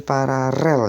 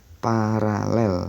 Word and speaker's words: paralel: namanya dengan cara para paralel ya jangan pararel yaitu pengejaan yang salah yang bener paralel ya jadi paralel itu